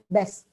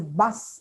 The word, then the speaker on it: bus: BUS. It's invariably pronounced as best. Best. You always hear children or students in the evening, best varne, and it's a bus actually, bus. Again, same reason. Is not a phoneme in Malayalam.